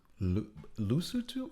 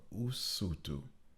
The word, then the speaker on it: Usutu: Lesotho or Usutu? You're adding an L that's not there.